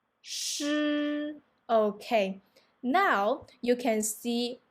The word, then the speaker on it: 诗: Okay, and then the second one will be 吃吃, and then the third one 诗诗.